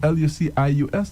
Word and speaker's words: Lucius: Lucius. It's pronounced as Lucius, Yeah, right?